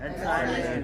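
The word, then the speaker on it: honest: क्योंकि H silent है यहाँ पर। क्या है? ऑनेस्ट बोलते हैं। ऑनेस्ट, ऑनेस्ट, ऑनेस्ट।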